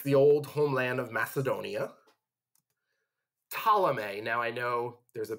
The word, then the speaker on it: Ptolemy: you think it's like Ptolemy, but it's like pterodactyl. You don't pronounce the P, although some of you were probably like, but I call it pterodactyl. No, Ptolemy gets Egypt.